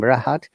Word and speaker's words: Rahat: by the vowel sounds but we also do pronounce r when the word starts with r like my name rahat you cannot just remove the rahat r okay it becomes then a heart and also when r